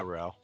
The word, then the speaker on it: Rowl: Yeah, Rowl.